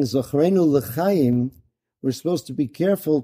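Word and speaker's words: לחיים: Don't say Zachrenu La Chaim. Remember, it's for non-life. Bad move. Right? You want to say L'chaim.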